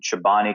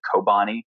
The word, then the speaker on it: Chobani: a lot of people didn't even know how to pronounce the name a lot of people called it kobani so I was really